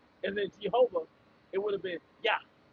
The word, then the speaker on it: Jehovah: Jehovah. G. There's no J sound in the Hebrew.